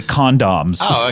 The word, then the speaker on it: condoms: I've always thought the way British people say condoms is annoying. What do you think about that? Wait, how do you say it? Condoms. Condoms. They actually pronounce the second O, and we substitute it with with U.